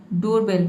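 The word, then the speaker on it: doorbell: लेकिन बहुत इस तरह के आपको कॉम वर्ड दिखेगा जहां पे डबल ओ को ओ प्रोनाउंस किया जाता है। देखिए डोर डोरबेल डोरबेल जो दरवाजे की घंटी होती है उसको हम बोलते हैं डोरबेल।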